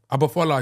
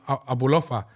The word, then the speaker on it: Abufola: Abufola, he was calling him Abulofa. He was like, yeah, it's a Nigerian name. He was like Abulofa.